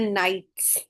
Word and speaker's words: knights: नाउ द नाइट्स, के is silent over here.